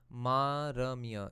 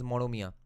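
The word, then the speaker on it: মরমিয়া: Maramia. It's a word used in the Baul. Yeah, it's actually pronounced as Moromia.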